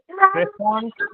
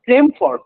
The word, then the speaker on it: Tremfort: বানানটা বলে দিই, এটা হচ্ছে TREMFORT। Trefont Main. Vane, VANE। Oh, VAN. আচ্ছা, Trefont. Well, Tremford actually, TREMFORT।